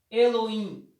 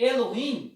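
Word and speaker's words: אלוהים: lê a da direita para a esquerda a pronúncia elohim elohim e foi traduzido para o grego mais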